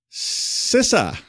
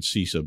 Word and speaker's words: CISA: day so what's not the like all right sisa a a person from sisa told me to say it that way not Paul it was an actual person at sisa I always said cisa but you know whatever who knows how to